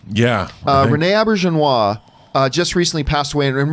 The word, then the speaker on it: Auberjonois: better Star Trek shows now I always mispronounce is a last name but it's Renee a birch and wah yeah Rene Auberjonois just recently passed away